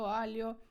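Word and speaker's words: aglio: що італійці готують пасту і все завжди Ольо альо пеперончино сале Угу альо все я вже вимовила альо лальо з артиклем лальо ажун спііаліо додай кусочок часничку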